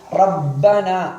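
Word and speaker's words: رَبَّنَا: உதாரணத்தை அவதானியுங்கள் ரப்பனா இந்த ரா என்பது என்கின்ற எழுத்தை ராவை கனமாக உச்சரிக்க வேண்டும்.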